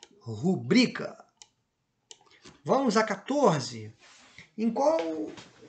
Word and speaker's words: rubrica: palavra oxítona rubrica opa não é rúbrica a pronúncia da palavra é rubrica que é aquela aquele visto né rubrica Então ela é paroxítona as pessoas pronunciam muito essa palavra de forma errada né então assinale a